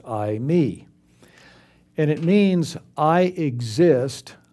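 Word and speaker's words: εἰμί: And it's the Greek word I, me. And it mean it's spelled e i m i pronounced I, me.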